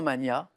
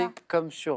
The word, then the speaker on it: Magna: En français, on entend souvent mania, et en fait, on doit le prononcer Magna. comme pour Magnus.